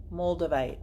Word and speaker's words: moldavite: a rough pendant no it's spelled MMO LD like mold moldavite mo LD avi te you like moss agate